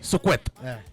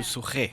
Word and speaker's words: Suquet: You know this name Suquet, it sounds like a Rift Valley name. I know. You know that? Pronounce it like Rift Valley. Suquet. Suquet.